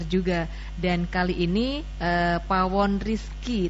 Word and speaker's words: Pawon Rizq: dan kali ini eh Pawon Rizki tulisannya kan riskue ya membacanya benar Pawon Rizki ya Pawon Rizki Bunda